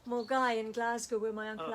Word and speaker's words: Milngavie: And it's a bit like Mulgai in Glasgow, where my Uncle Alistair and Angela live. It's spelt Milngavie, so it's Milngavie for those who don't know, but Mulgai for those who do.